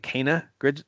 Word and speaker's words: Kena: My most hyped game of the month for August is going to be, I think they're pronouncing it Kena, Bridge of Spirits, coming to PS4, PS5, and PC on the 24th.